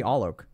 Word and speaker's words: Alok: people prefer that because my first name is sometimes hard to pronounce but you could call me all Oak if you want I'm